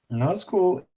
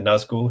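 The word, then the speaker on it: Nazgûl: Now, Nazgul is stuck together. Nazg and Gul. It's words. Hey. This would technically be correct. Have a double G sound, which is why they just sort of cut it. This one is on the front part, so Naz. Well, actually, sorry. It's technically Nazgul.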